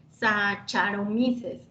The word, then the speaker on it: Saccharomyces: en esto sí este letras ch se pronuncia acá igual que ph efe si entonces así nosotros tenemos qué por ejemplo sacaron meses no se pronuncia sacar saccharomyces no y en por ejemplo